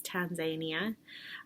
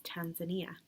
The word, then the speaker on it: Tanzania: like canada and tanzania i need to decide which way i'm going to say it properly which is tanzania um or westernized which is tanzania so um both canadians